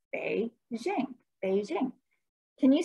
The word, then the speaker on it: Beijing: And the capital city is Beijing, pronounced Beijing, Beijing.